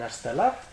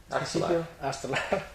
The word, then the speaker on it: Aartselaar: Arstelar? Aartselaar Very complex to pronounce...